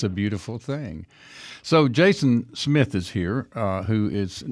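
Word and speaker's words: Jasn Smith: So before we get into talking about Aloha China, I wanted your name is spelled J A S N Smith, but it's pronounced Jason Smith.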